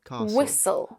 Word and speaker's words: whistle: Words ending in the letters s t l e like "castle" Yes. and "whistle". "Whistle". They end with "sul".